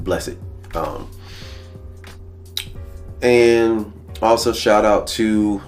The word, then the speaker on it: BLLESSEDT: And the T is really there mostly to kind of resemble a cross, or to allow you to say it like blessed.